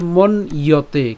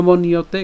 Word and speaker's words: মন্যতে: এরপর হচ্ছে মন ইয়তে, কেন মন ইয়তে, কারণ এখানে যে জফলা আছে, এই জফলা উচ্চারণ কার মতো হয়, ইয়র মতো হয়, এর